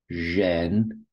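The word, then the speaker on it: 人: So for example, this word here, zhen, is person, zhen, and it just looks a bit like a person, someone spreading their legs.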